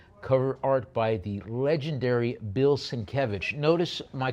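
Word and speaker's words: Bill Sienkiewicz: Cover art by the legendary Bill Sinkevich. Notice my correct pronunciation of his name.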